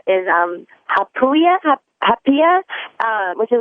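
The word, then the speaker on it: haupia: And the thing I really, really love is, I'm probably going to pronounce it wrong, because they say it is hapia, which is like a coconut dessert.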